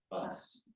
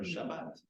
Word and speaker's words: Shabbat: so it's a saf, but Israelis pronounce the saf and tav the same as a T sound.